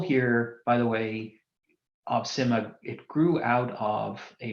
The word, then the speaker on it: SCIMMA: that as well okay so I'm Simha that's how we pronounce it we just had a debate over slack as to whether it was skimmer or Simha it is Simha this project is a